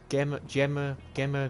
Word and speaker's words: Gemma: So with Gemma Garrison. Depends on how you want to pronounce it, whether you want to pronounce it the Gemma as with a G or with a J.